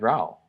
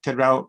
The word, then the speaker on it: Rao: And you wrote a book with Ted Rao. Is it Rao? Yeah. Is that how you pronounce? Ted Rao, yeah.